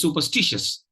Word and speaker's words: superstitious: it uh you know there will be a tendency to pronounce it as a five syllable word superstitious so it will be supers t c s but that's not how it works uh it's superstitious superstitious now this happens because